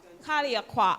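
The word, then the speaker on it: Calliaqua: Um we have Lica Miller and Kathleen Jack Pin from what do you pronounce it? Kaliaqua Kaliaqua Anglican St.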